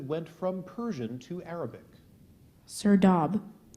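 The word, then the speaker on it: serdab: a word that went from Persian to Arabic sir dob s e r d a b sir do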